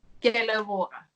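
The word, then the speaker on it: Ke a leboga: Ke leboga.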